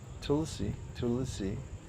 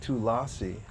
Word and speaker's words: Tulsi: And Tulsi, you can't get Tulasi out of Tulsi.